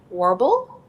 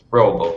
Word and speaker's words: Roble: Is it Warble? It's Roble, but yeah, basically. Roble. Okay, I tried to say the W with the R, and see, very good